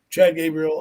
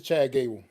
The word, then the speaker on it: Chad Gable: hope uh I'm say I think I'm saying his name wrong but um I hope he does well you are but it's all right we get it what is his name we it's Chad Gable it's just Chad Gable I thought yeah well